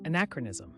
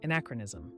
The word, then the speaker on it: anachronism: The word is anachronism. Say it with me, anachronism. Pronounced uh-nak-ruh-ni-zum. Anachronism.